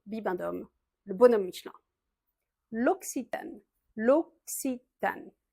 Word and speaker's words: L'Occitane: L'occitane. Les deux C se prononcent un peu comme un X en fait.